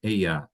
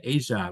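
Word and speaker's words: ella: Aya. In Spanish, if you have two L's, it makes the Y sound. So, it's a S. Or I noticed Sherry was doing kind of an Asia, which is the way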